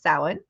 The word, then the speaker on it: Samhain: Samhain, it's spelled, just so you know, if you're not familiar, it's spelled like Samhain, Samhain, but it's pronounced Samhain.